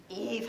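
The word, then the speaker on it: Yves: list of your favorite million numbers okay non-negative Eve can go and create a surface whose first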